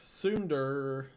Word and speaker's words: Tsundere: Tsundere, pronounced Tsundere, is a Japanese term for a character development